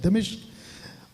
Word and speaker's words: दमिश्क: इसका ये जो सफर था दमिश्क, अभी तक हम लोग कुछ और बोलते थे, लेकिन ये राइट प्रोनाउंसिएशन है दमिश्क और दमास्कस, ये इसका इंग्लिश शब्द है दमास्कस।